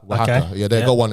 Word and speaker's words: Oaxaca: But basically with that, it was called, I can never pronounce it, Oaxaca. Right, Oaxaca.